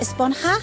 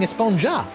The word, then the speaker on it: Esponja: grande thing has been about huh actually it's pronounced espanha with an h sound at the end really but we've all been saying esponja yes i know it's been bothering me this